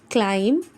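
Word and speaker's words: climb: Similarly M बी की sound में चाहे यह आपको बीच में मिले चाहे आपको एंड में मिले हमने बी को साइलेंट कर देना है। बी की साउंड लानी ही नहीं है।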